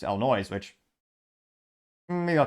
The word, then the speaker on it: Illinois: if you're you know not from there you mispronounce it's Illinois which maybe I'll call it that just cuz